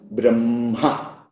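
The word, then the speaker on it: ब्रह्म: That's why When we write H plus Ma, actually it is Hma, but in pronunciation it becomes Brahma, Mha.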